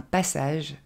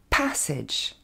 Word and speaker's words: passage: fois quaritch et enfin un passage se dire parce edge ici aussi vous pouvez